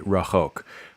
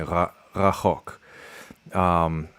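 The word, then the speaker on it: רחוק: Once you start getting into like ra and cha and all these sounds one after another, this is all in the back of the throat. It's that's going to take some practice for me to say it right. I really just want to say rachok, which is a strong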